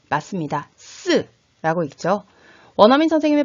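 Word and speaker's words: 四: 않는 것도 같은 이유입니다 죽을 사 중국어로 는 쓰 으 라고 있는데요 어떤가요 숫자 4 쓰 와 발음이 비슷하죠 그래서 중국인들도 숫자 4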